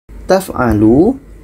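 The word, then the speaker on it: تفعلوا: " Taf'alu," lu adalah wau yang panjang dan tidak diucapkan. " Taf'alu," lu wau terdiam lama.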